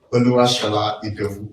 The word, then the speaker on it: Oluwasola Idowu: I really feel sorry if I cannot pronounce that. Okay, thank you. Thank you so much. Oluwasola Idowu is my name.